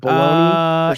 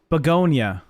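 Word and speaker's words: Bugonia: Bologoney. Uh it's Beonia.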